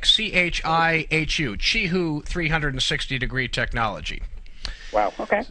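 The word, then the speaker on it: Qihoo: until someone uh corrected me that the correct pronunciation is chihoo, like ch Hi, Hu. Chihu.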